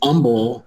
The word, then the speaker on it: Humble: there you go it's humble the h is silent we'll get upset about